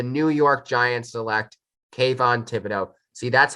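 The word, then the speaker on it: Thibodeaux: 2022 draft the new york giants select kayvon thibodeau see that's how he pronounces it like spills and then right here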